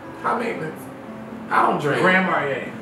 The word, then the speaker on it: Grand Marnier: Grand Marnier. Listen, I just... Did I say it right? Yeah. Grand Marnier.